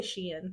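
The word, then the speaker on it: Shein: Teo that's what I people say shine or what do they say I say Sheen I say sheen sheen it's literally she in hey she in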